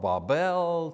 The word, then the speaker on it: Babel: You know, there's a million ways to say it, but I've looked at the phonetics of it, you know, and the phonetics say the pronunciation should be B-A-W-B-E-L, so Babel, Babel.